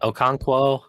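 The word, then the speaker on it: Okonkwo: You got I I don't want to mis mispronounce their names, but I Manor, you know, Oko, I don't Okanquo.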